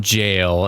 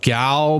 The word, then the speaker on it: gaol: Hello everybody, and welcome to Junji Ito Maniac and Infinite Jail. And I know it looks like it's pronounced gaol, but no, that's actually an old-fashioned British pronunciation of the word jail, which is kind of interesting that they went with that.